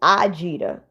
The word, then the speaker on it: Ajita: It's Ajita. So the A that is in my name, it sounds like an I.